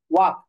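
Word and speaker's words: walk: যেমন মনে করো, আমরা ইংরেজিতে যদি বলি যে ওয়াক, ওয়াক, এখানে এল এর উচ্চারণ হচ্ছে না।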